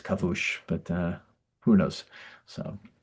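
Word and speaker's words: כיבוש: Um those kind of and kavush or kibush depending on how you think it's pronounced. Um I think kibush might be right actually but it's the uh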